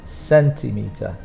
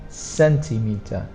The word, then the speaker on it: centimeter: spelled differently for pronunciation the stronger sound is on the first one and the third one centimeter centimeter for the strongest is